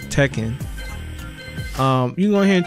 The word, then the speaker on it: Tekken: how you say it I always called it tiken but I think it's pronounced Tekken um you go here